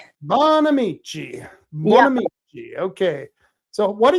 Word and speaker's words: Bonamici: Is that how it's pronounced? Bonamici. Bonamici.